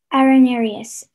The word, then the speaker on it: arenarius: Arenarius. Can I have all the information, please? Yes. Arenarius is the only pronunciation.